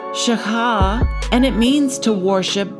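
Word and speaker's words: שָׁחָה: And it's pronounced shaka.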